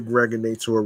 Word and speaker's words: Gregonator: I'm your man, aka the Gregonator, rhymes with now or later, like the candy.